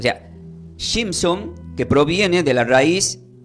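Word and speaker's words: Shimshon: el nombre Sansón se se pronuncia como Simpson pero no son los Simpson nada que ver con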